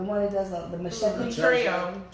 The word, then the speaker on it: Trejo: Danny, I can never pronounce his last name right. the one that does the machete. Trejo. Trejo.